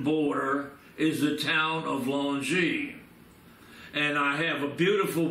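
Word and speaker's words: Longwy: I have the picture that's called Longy. L-O-N-G-Y. The French spell it several ways. L-O-N-G-W-Y.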